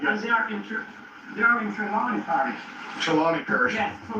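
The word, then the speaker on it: Trelawny: How do you pronounce that? Tremlon County Parish? Or Trelawney. Trelawney.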